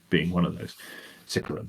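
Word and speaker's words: Sicaran: Potentially a whole new chassis type of a vehicle, Sakaran being one of those. Sikaran, rather, I discovered it's pronounced.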